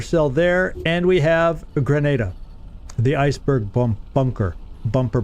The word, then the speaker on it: Grenada: the island of Granada I've always pronounced that gran but uh they said Grenada so obviously I'm probably